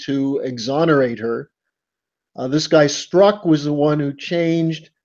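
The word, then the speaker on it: Strzok: is a lot of consonants but it's apparently pronounced struck yes this tells you all you need to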